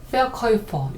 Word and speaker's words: Verkäufer: 근데 Verkäufer, 요게 이제 아우가 아니고 umlaut 우는 오이 발음이 난다고 앞에서 제가 설명을 드렸어요.